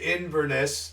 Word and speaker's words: Inverness: uh uh inous iness it's three syllables Vinnie iness um the uh we go from pers to Inverness and then from Ines